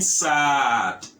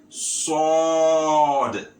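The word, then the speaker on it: ص: So instead of saying sad, you make it sword, sword.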